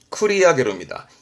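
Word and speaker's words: 繰り上げる: 발음은 쿠리야게르입니다.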